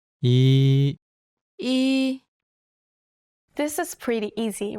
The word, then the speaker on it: 이: Your first vowel is E. 이, This is pretty easy, right?